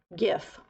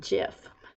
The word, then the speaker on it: gif: hope you're doing good Terry says it is a hard G not a j-style gif not jiff you Mary I see